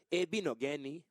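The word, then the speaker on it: Igbinoghene: So a lot of times they won't pronounce the G, so just be Igbino Geni.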